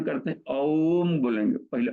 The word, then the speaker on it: ओम: एकम अक्षरमनामलाई हो ओ की मात्रा तीन बार ओ उच्चारण तीन गुना लंबा हो और म को उसम टच करें ये कहना भर उसका लेकिन उच्चारण करना है सीधे वैसे ओम ओही ओम बोलना है इसमें करने का सिध